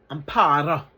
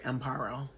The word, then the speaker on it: Amparo: Amparo. All right, I can't roll the R, so I just call her Amparo.